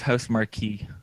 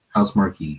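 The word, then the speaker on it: Housemarque: the developers uh housemark I'm not sure if I'm ever pronouncing that right m a r q e i think it's house Marquee house Marquee okay house Marquee has uh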